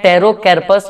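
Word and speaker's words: Pterocarpus: ये पी यहाँ पर साइलेंट है तो इसको हम लोग पढ़ते हैं टेरोकैर्पस मार्सुपियम।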